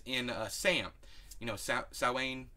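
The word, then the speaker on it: Samhain: uh Sam you know sowain was Sam Hayne if you know you pronounce it wrong I think even saline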